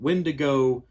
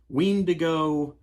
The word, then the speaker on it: wendigo: ways to pronounce it there's wendigo like how i'm saying it when to go we indigo wendego windagoo when jago ouija go do i hate that